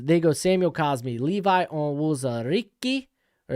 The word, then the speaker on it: Onwuzurike: Green Bay Packers, they go Samuel Cosme, Levi Onwuzurike, or it's actually Onwuzurike, and then Amari Rodgers.